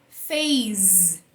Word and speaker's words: phase: E no inglês, então você vai pronunciar ele como Z quando ele estiver entre duas vogais, beleza? Então essa palavra aqui a gente fala phase, porque ele tá entre a letra A e a letra E, duas vogais.